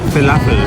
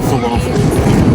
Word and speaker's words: falafel: It is pronounced falafel, not falafel.